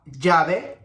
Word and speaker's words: llave: I said to you it was like the J sound in English. Okay, so we have llave, llama, llevar.